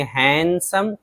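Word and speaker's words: handsome: इस तरह हैंडसम, बहुत मशहूर लफ्ज़ है, तो यहाँ भी डी है लेकिन डी को नहीं पढ़ेंगे, हैंडसम, खूबसूरत।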